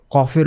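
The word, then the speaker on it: ق: নুক্তা থাকে এবং কফ কফের উপরে দুইটা নুক্তা থাকে এটা অনেক জটিল একটা ওয়ার্ড এটাকে আপনাদের প্র্যাকটিস করতে হবে এটা হচ্ছে কলকলার হরফ কফ একদম ভিতরে থেকে আসবে কফ তারপর হচ্ছে কাফ এই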